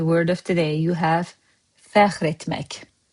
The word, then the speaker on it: fəxr: In Master Azerbaijani word of today, you have FƏXR ETMƏK. FəXR is just one syllable.